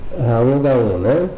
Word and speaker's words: Raon Gaon: Então eu falei errado, mas é Gaon, Raon Gaon, Então em duas partes.